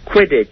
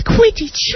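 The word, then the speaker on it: Quidditch: pod race it's in Phantom Menace is the quiddit I'm not sure if I'm saying that right you're saying it right yeah quiddit is that right Harry yes it's quittage yeah and how do you play that game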